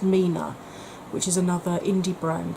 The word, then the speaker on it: 3INA: I spoke, I think it was last time, about 3INA, which is pronounced Mina, which is another indie brand that are actually selling through ASOS.